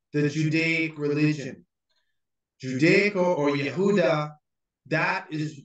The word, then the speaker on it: Yehuda: judaic religion judaic or Yehuda that is the correct pronunciation with the Y not with the J because there's no J in Hebrew what is happening is